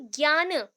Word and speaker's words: ज्ञान: Right knowledge, सम्यक ज्ञान, ये जनन हम ऑब्वियस हमेशा पढ़ते हैं कि JNANA है, तो दैट इज कॉल्ड ज्ञान। आपके बुक में भी यही मेंशन है, बट स्पेलिंग ऐसे कर सकते हैं, इंग्लिश में ऐसे ही चेंज किया जाता है, JNANA लिखा गया है। सो ज्ञान है ये, ठीक है।